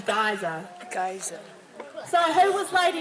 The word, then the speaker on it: geyser: For some of you who pronounce it geyser, the correct saying is geyser.